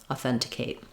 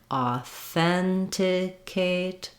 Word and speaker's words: authenticate: the word the same still stressing and stretching on the second syllable that sounds like authenticate authenticate authenticate then when we get to authentication we actually have the same sounds all the way through uh for the first syllables but now instead of stressing on thin and holding it longer it's going to go by quickly authentication authentication again you can start